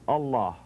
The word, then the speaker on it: Allah: a-l-a-h-a allah allah allah now we know in pronouncing in arabic where the name is allahu allahu but the vow who the dhamma on the end of allah is dropped when you stop the name there it's only continued when you say